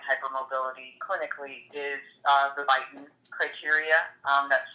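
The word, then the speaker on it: Beighton: diagnose generalized joint hypermobility clinically is uh the biten criteria um that's spelled b e i g h t o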